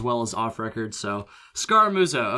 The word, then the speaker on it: Scaramuzzo: So Scaramuzzo. Okay, just a couple syllables there.